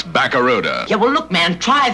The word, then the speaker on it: Barracuda: I can't pronounce Barracuda. Yeah, well, look, man, try this. Say ba. Ba. Ra. Ra. Coo. Coo. Da. Da. Now put it all together! Baba, ra-ra, cuckoo, da-da! Well, it ain't Barracuda, man.